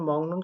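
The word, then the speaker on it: 먹는: সাথে হামকে করতেন খাওয়ার এখানে মংনুন কেন উচ্চারণ করল কারণ ক বর্গীয় বর্ণের পরে নিউন থাকলে এটা মূলত 19 হয় অর্থাৎ ইয়ং হয় ইয়ং এর সাউন্ড নিচে বসলে 19 সেইটা তাহলে মংনুন খাওয়ার উগাং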